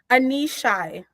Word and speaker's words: Aneshai: Her name is Aneshai. Did I say it right? Close. No, it was really, really close though. Aneshai.